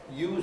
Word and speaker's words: use: as then you know use and uses a pair of words where the spelling is the same but use it with a z verb and use with an s is the noun people often get that